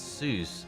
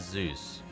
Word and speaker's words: Seuss: And just in uh just in case some people get the name wrong, it's not it's Seuss, not Zeus.